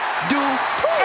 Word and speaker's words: Dupri: Here comes the talented Maxine Dupri. Michael, it's pronounced Dupri.